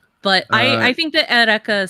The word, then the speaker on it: Eureka: Watch Erica 7. It's good. Yeah. Erica 7. Remember, it's spelled Eureka, but it's pronounced Erica.